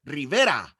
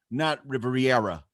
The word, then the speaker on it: Rivera: fucking black people's names and why they can't pronounce Spanish names correctly, because that one gets on my fucking nerves. It's Quintero or Rivera or not Riviera.